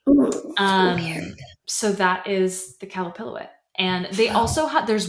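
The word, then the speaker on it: Qalupilluit: the cup palic um is another spelling for it um it's spelled with a Q so if anyone wants to look it up it's q a l u p i l UI T um really creepy really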